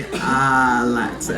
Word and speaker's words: Alexa: what I mean Tony that's actually how you pronounce my name it's actually Alexa I love it well